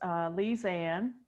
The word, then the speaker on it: Lisanne: If you can pronounce, excuse me if I mispronunciate. No, that's fine. It's Lisanne.